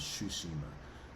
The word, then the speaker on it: Tsushima: want to call it i'm pretty sure there's shushima as that's what has been pronounced in the game and that's what many of the non-playable characters in the game have referred to the island most importantly i want